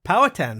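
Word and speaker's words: Powhatan: you're from Virginia originally how' you pronounce the tamy from is it Paul hatan you pronounce it like everybody else does that's so great it's called power tan power tan right oh cool yeah that sounds a lot better yeah yeah it's named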